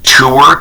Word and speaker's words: Tour: on between you and is it Dr James tour T uur am I saying it right yeah just like the normal word yeah who is Dr